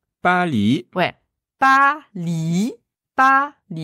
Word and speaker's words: 巴黎: très important quand même Paris en chinois c'est Pali ouais pa pa B